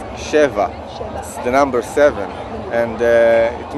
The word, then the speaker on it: Sheva: important to mention that to pronounce the real name of the band is sheva the number seven and